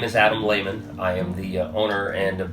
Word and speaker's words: Lehman: How do you pronounce? My name is Adam Lehman.